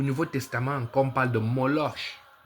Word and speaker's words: Moloch: Mais il y a un démon au Nouveau Testament qu'on parle de Moloche. En français, moloche. En en espagnol, c'est Moloque. Moloche. Et ça s'écrit M O L O C H En français, c'est un